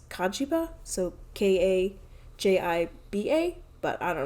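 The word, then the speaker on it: Cagiva: no c-a-g-i-v-a but then like Japanese pronunciation is kajiba so k-a-j-i-b-a but I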